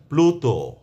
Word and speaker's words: প্লুত: অর্থাৎ ল এর উচ্চারণ স্পষ্টভাবে আসবে। এক্ষেত্রে কোন দত্ত উচ্চারণ হবে না। তো আমি কিছু শব্দের কথা বলছি। আপনারা মনোযোগ দিয়ে শুনুন। যেমন ক্লান্ত ম্লান প্লুত প্লিহা।